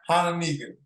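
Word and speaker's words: Hononegah: Was it Haniga? How do you say it? Hananiga.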